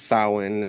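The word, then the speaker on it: Samhain: Um, and then it's like I said, it's pronounced sin.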